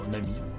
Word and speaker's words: Namie: le projet Nami namier Nami on va dire Nami pourquoi Nami donc ça